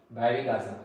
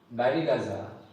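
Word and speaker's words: Barygaza: the name of Baraza Baraza what is Baraza Baraza is basically again a misprononunciation of the word briuga Brigumi used to stay in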